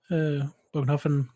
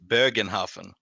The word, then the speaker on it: Bogenhafen: box coming up with the Bogenhafen, as it's apparently pronounced in English, Bogenhofen Barons versus some orcs that I can't remember the name of, but they've got gorgeous models. But we're Swedes. We're gonna pronounce it properly. It's Bögenhafen.